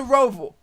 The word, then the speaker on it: Roval: It's the Roval.